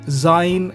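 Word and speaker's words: זין: And Zain is zoo or zoom, the tool that we use.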